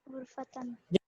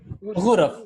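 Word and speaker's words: غُرَف: Ghurfatan. Yes, Naida auntie? Ghurfatan. No. Gurfan. Ghurfatin. Ghuraf, correct. So rooms is Hu, Ra, Fun would be rooms.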